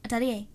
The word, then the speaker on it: Atelier: Atalier.